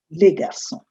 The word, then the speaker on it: garçons: You note there is an S in both words. So this represents the plural, although you don't pronounce the S. It remains garçon. You just say les filles, les garçons.